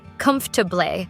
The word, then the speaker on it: comfortable: Like in comfortable, we usually don't say every syllable perfectly. Instead, we say something more like comfortable, or with library, we skip one of the R sounds, so it's libri.